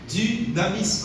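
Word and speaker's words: δύναμις: Dynamis, comme ça se prononce.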